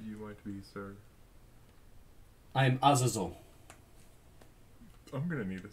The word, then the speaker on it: Azazel: Can I just tell you it's Azazel? Azazel. A-Z-A-Z-E-L. A-Z-A-Z-E-L? A-Z-A-Z-E-L. Man, use a sizzle, use a roaring flame. Azazel. Yes, some people do pronounce it that way, and it's wrong, but it's acceptable.